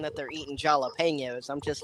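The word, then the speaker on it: jalapeño: Nah, they're the ones that go around saying that they're eating jalapenos. I'm just like, the J is silent. Keep it that way.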